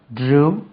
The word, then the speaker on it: drew: drawing இந்த drew இருக்குல்ல drew சொல்லக்கூடாது இந்த BLEW blowக்கு past tense blew grow grew GREW அதே மாதிரி CREW ஒன்று இருக்கு இந்த மாதிரி DREW இதெல்லாமே BLUE it rhymes with blue crew blew grew drew